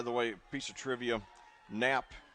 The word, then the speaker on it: Knapp: By the way, piece of trivia, Knapp, or Knapp as it's pronounced, is the German word for button.